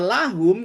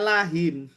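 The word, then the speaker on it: لهم: Jadi, tapi pas baca kata lahum kita enggak bacanya lahim. Iya. Iya. Oke. Ya. Jadi himnya ini bukan karena pengaruh huruf jar tapi untuk memudahkan baca.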